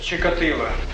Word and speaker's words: Чикатило: По-украински произносится. По украинской мове. Чикатило.